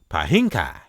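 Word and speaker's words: Piankhi: King Pa, referred to as Pahhinkai, which is P I P I A N K H I Pinkai. You got to say it like that.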